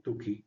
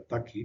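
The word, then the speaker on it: Tukey: El método tuki John Tuki, tuki se pronuncia con u. Si fuera c se pronunciaría taki, pero es k sola, por lo tanto se dice tuki.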